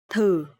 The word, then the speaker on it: thử: Okay, so here the letter TH, and you will pronounce th. And here the tone mark is dấu hỏi, so it will be thử.